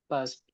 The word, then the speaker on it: passed: Past. Yeah. Would you pronounce D as normally it is pronounced duh, or will you change it? Past. The. It is pronounced as T.